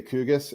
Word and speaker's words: QGIS: cue just i in in denmark they say kugas and and you know